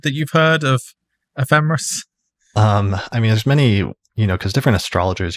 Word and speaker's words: ephemeris: but yeah, I think ephemeris with the stress on the fe seems to be the most common way of saying it.